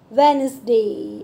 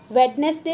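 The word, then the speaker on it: Wednesday: Divide कर लेंगे, डब्ल्यू ई डी एन ई एस डी ए वाई, इसमें जो डी है ना वो साइलेंट लेटर है, तो कैसे बोलेंगे? वेनसडे। क्या बोलेंगे? वेडनेसडे नहीं बोलेंगे, क्या बोलेंगे?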